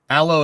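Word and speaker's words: Aalo: Aloe is pronounced like the plant you use for burns.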